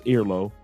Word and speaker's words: Airlo: That's Airlo. That's the app that you want to download. It's spelled Air Low, just like air, just L-O.